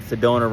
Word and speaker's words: Sedona: up the fact that Sedona rhymes with Arizona and it said they